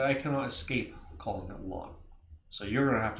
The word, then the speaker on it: ln: which means natural lock Ln of X is pronounced lawn of X like a green lawn of grass I'm going to continue